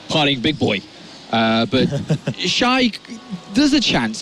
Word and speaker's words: XY: What's the correct pronunciation? Shy. Shy. All right, so Shy.